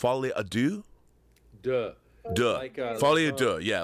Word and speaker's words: Folie à Deux: and everybody should go see how do you pronounce it f Adu duh du F ad du yeah like by the way I only know